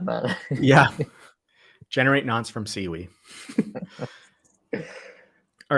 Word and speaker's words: SIWE: they're called they're calling it they're saying it's pronounced seaweed so I don't think I can get used to that man yeah generate nonce from seaweed all right so we're going to create a